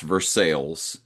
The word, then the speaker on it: Versailles: We have a Versailles that we pronounce Versailles, Okay. and we have instead of Athens, we have Athens.